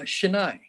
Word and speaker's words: Shenai: your last name uh chennai that's the way it is spelled should i okay great